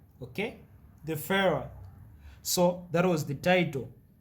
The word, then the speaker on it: Führer: So they started calling him as the Führer, okay? The Führer.